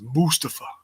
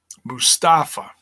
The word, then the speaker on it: Mustafa: It's Mustafa. As opposed to Mustafa.